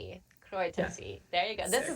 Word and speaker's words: Kräutertee: with you'll have to help me with the pronunciation. It's Kräutertee, Kräutertee. Kräutertee. Ja, Kräutertee.